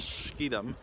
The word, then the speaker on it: Schiedam: And tomorrow I am hopping a train to Schiedam, or is it Schiedam? I can't pronounce it right. It's Schiedam.